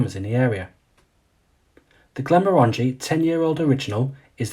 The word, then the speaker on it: Glenmorangie: is often mispronounced as Glenmorangie where in fact the second part of the name is supposed to be pronounced and sound like orangey therefore the correct pronunciation is Glenmorangie and for decades Glenmorangie